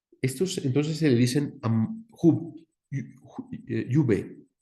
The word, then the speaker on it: Iube: Entonces, desde la primera palabra, Iube, se pronunciada a la francesa, se dijo Iube a estos lugares.